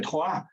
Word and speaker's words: Troyes: do Irache, em Troyes, cidade em português talvez seja Troyes, né? Mas em francês a pronúncia correta é Troyes.